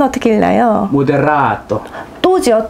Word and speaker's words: 모데라토: 지난 시간에 말씀드렸지만 정확한 발음으로 안단 티노. 안단 티노. 안단 티노. 모데라토는 어떻게 읽나요? 모데라토.